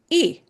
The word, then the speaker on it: y: The word and in Spanish is the sound E. E, which by itself is usually spelled as the letter Y, but it's pronounced as E.